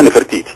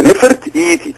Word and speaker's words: نفرتيتي: في التاريخ اول حاجه ما فيش حاجه اسمها نفرتيتي نحن ننطق اسم هؤلاء الملوك والملكات بخطر كمان هي نفرت ادي كلمه ايتي ادي كلمه تانيه خالص يبقى نفرت ايتي ح بسوت في الف